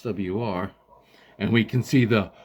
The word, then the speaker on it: SWR: I'll check it on SWR or swer some people some idiots like they call it vizir just pronounce the letters that isn't won't take you that that damn long anyway so we put